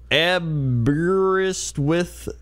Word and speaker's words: Aberystwyth: Aberystwyth. Though the last syllable rhymes with Smith rather than with.